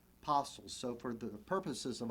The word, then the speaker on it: Postles: time to mention that you may hear his surname pronounce postals but chances are talk to a battlefield guide up at gettysburg he's going to refer to him as james park apostles so for the purposes